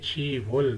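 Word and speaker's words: 시월: दवा महीना जो है 10 के लिए सीनो कोरियन कांट है छिप लेकिन महीने के लिए हम बोलेंगे छी वल दसवा महीना चिप इवल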